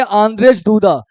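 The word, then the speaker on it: Andrzej Duda: Poland के president कौन है आंद्रेज इसको पढ़ेंगे आंद्रेज दूदा तो यानी सबसे मोस्ट इंपोर्टेंट कि फें चोब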